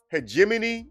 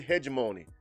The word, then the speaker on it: hegemony: have elitism, why we have hegemony or hegemony. Depends on, who's pronouncing the word. It basically means a top-down control structure. That's what it means. I'm going to pronounce it hegemony. Some people pronounce it hegemony. I'm going to say hegemony.